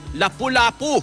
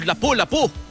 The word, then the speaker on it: lapu-lapu: experience grouper kapuso ay lapu-lapu or lapu-lapu ah Yan ang tama raw na pronunciation niyan lapu-lapu garupa sa China